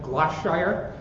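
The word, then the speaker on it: Gloucestershire: from this little town i'm going to try to pronounce it correctly it's like gloss shire and this english cheese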